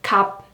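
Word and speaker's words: 값: And what about 비읍 시옷? Yes, you can just choose 비읍, like 갑, 갑.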